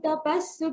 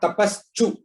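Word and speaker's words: तपस्सु: upaiti chadyam Vedeshu yajneshu tapassu chaiva Dhaneshu yat punya phalam pradishtam Atyeti tat sarvamidam viditva Yogi param sthanam upaiti chadyam. Tapassu, not tapaschu.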